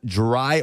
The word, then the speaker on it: Dri: Number 3, Dree Archer, D-R-I is how it's spelled.